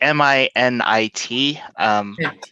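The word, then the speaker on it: Minit: chat but it's a it's called minute it implies in a minute of China it's like mi nit it's spelled weird but basically the premise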